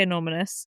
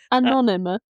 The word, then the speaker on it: anonymous: So, this person wants to stay anominous. Anom anominous. Did I say it right? I feel like I'm saying it too many times now. Anonymous.